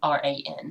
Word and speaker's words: Quran: Yeah, no, I was thinking there was no A, so it would be like Quran. Maybe I'm wrong. I think they spelled. Oh man, never asked me to play Steve Vai. I am not. It is spelled without the first A. So it's Quran.